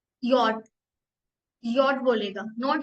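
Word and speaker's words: Jot: बट अगर कोई बोलेगा स्पेल आउट करने के लिए तो हम इसको बोलेंगे यॉट. यॉट.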